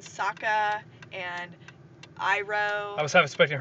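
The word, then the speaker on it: Sokka: things like number one they switched the pronunciation to gain some kind of like faux accuracy which was terrible it was like soca and aung yeah instead of instead of ang and saka and iro i was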